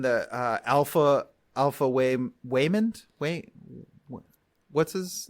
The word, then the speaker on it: Waymond: thought it was um I thought they were mispronouncing Raymond but it's it's Waymond yeah no I I